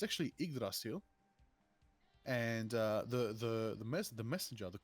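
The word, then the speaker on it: Yggdrasil: Actually, I've been correcting myself on pronunciation in the Marvel law. It's actually Idrasil.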